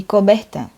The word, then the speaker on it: Coubertin: O renascimento ali que se deu do espírito olímpico se deu ali pelo francês conhecido como Barão de Coubertin. Eu creio que se pronuncia assim o nome dele.